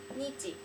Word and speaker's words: 日: The pronunciation is hi or nichi.